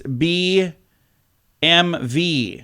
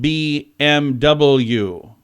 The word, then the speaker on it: BMW: it's not Beamer it's B m v rather than BMW so it's BMV oh yeah I've been saying it wrong too BMV because it's German huh it's not BMW